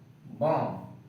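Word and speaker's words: bomb: Doubt, climb, डम, टॉम, बॉम्ब, लिम। तो इससे क्या रूल हमारा बना है कि एम के बाद बी आता है तो उसको बी साइलेंट, और टी से पहले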